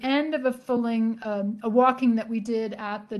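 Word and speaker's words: waulking: women walking the cloth and walking is spelled w-a-u-l-k-i-n-g it was is not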